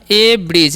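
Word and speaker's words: abridge: word क्या है हमारा ए ब्रिज इसे हम क्या पढ़ते हैं ए ब्रिज ठीक है ए ए ब्रिज बोलेंगे ए ब्रिज ठीक है यहां पर डी साइलेंट होता है जी कान ज होता है तो ए ब्रिज मतलब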